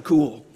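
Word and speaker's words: Kuhl: and being introduced as dr. cool and she's dr. cool because her last name is spelled Koh L but she's also very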